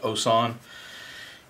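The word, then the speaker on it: Wouxun: is the osan it's it's spelled with a w but it's pronounced osan and it's very similar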